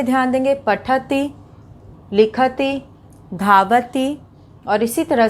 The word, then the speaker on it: पठतः: तो अब यहाँ पे उच्चारण पे ध्यान देंगे, पठति, लिखति, धावति। और इसी तरह से यहाँ पे तह, द्विवचन में तह का उच्चारण आ रहा है, पठतः, लिखतः, धावतः।